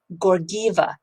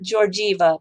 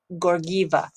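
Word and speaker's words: Georgieva: the imf is crystalina gorgiva two hard g's like google not george eva but gorgiva anyway we should do a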